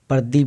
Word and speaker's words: प्रदीप: देखिए मतलब प किसे, प में लगा प आधा प का उच्चारण कम आता है प, और र का उच्चारण ये जो है इसके बदले में र का उच्चारण आता है प्रदीप, प्रदीप। प हाफ होता है और र का उच्चारण फुल्ली आ जाता है।